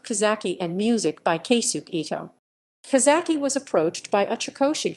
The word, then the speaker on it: AI: additional meanings in that it is pronounced like the english word eye and is short for